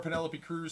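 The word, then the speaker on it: Penélope Cruz: 1974, Penelope Cruz, Spanish actress and producer.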